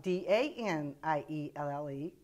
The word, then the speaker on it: Danielle: Danielle, spelled D-A-N-I-E-L-L-E, but it's pronounced Danielle.